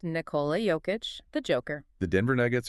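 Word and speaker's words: Nikola Jokić: And pronounced Nicola Joic.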